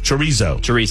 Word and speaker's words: chorizo: a type of sausage that I can never pronounce. The chorizo. Chorizo. Chorizo.